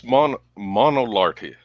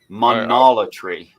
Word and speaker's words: Monolatry: The word is monolarty. Huh. I hope I'm pronouncing it that like. So you believe many gods exist, but you only consistently worship one. Could I review how to pronounce that? Please do. Monolatry. Monolatry. Yeah.